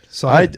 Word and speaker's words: Sahith: all a lesson with Sahith. Yeah, and Which I think is right. You've drilled it. You know, you have it best of everybody. Yeah. I mean, Sahith.